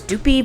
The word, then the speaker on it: Duppy: I don't remember, and that's why I know it's Doopy, because that is how they phonetically spelled it for us.